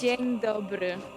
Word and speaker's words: Dzień dobry: How is yeah, it pronounced? It's Dzień dobry.